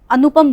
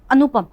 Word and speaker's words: अनुपम: तो इसी तरीके से अगर आप अनुपम बोल रहे हैं तो अनुपम नु में कम समय लगा, ठीक है।